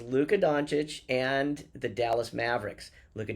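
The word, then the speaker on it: Luka Dončić: But Don Luch and Don Luca. Who brought them down? Who brought them down? But you don't even appreciate him enough to pronounce his name correctly, right? Luca, who brought them down was Luca Donuch and the Dallas Mavericks.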